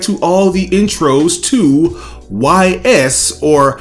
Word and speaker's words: Ys: all the intros to YS, or Isu as it's pronounced in its Japanese territory.